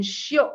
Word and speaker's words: Shiok: So it's Shiok Meats, and Shiok is spelled SHIOK, and it is actually Singlish.